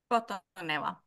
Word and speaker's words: Kotaneva: Is it Kotaneva? Kotaneva. Kotaneva. You can pronounce it a lot better.